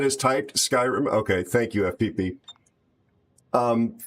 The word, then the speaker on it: Skyrim: Is it Skyrim? Thank you. Skyrim. Yes. Okay. Well, it looks like it could be scrim scrim and oh gosh discipline. How are you buddy? It said is typed Skyrim.